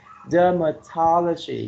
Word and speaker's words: dermatology: have pathology the ni dermatology you see you put the stress on the first and the third syllable physiotherapy renal units and